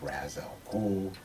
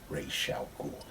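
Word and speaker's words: Ra's al Ghul: a misconception to think that his name is Razzle who when in reality it is actually racial cool so anybody anybody tripped out the way I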